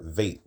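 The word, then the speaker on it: ב: we can see here in the modern Hebrew, quote unquote, modern Hebrew pronunciation, it can be bait or vait, depending on whether or not there's a dagesh or a dot in the middle.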